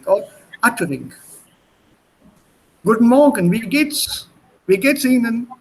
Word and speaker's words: Guten Morgen: Guten Morgen. The pronunciation is T and T na together. Good morgen. Guten Morgen. Ist not Guten Morgen. Das ist falsch.